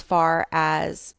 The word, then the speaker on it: Farrah: Two double r in Fara and um, it's pronounced Fara just like Sarah, but with an F.